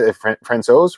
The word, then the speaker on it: Francouz: Francouz, right? Is that how you say it? Yeah.